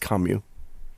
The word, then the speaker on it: Camus: It's spelled as Camus, yeah, but it's pronounced Kamyu.